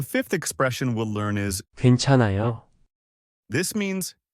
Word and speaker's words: 괜찮아요: The fifth expression we'll learn is 괜찮아요. this means it's okay or I'm fine in Korean. The pronunciation is 괜찮아요.